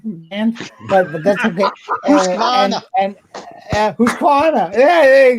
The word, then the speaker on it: Husqvarna: And if you pronounce your words correctly in English, like Husqvarna, you'll do so much better as well.